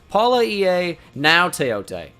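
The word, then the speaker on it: Palaie Gaoteote: And apparently it's pronounced Paula EA Now Teote. So GAO is now.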